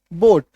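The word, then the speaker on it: boat: बी ओ ए टी बोट अब यहां पे देखो ए ना साइलेंट हो गया ए जो है वो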